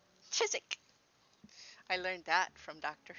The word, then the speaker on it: Chiswick: Chiswick should be pronounced Chiswick, because that's how it's spelled, and yet they don't. They pronounce it Chiswick.